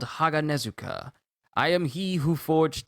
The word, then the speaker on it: Haganezuka: chimes i am called jage nezuka uh i just i just i just butchered that name i am called haganezuka i am he who